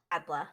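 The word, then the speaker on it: Atle: i can have octavia atla or atla it's it's spelled within e but it's pronounced with an a okay a-t-l-e yeah octavia's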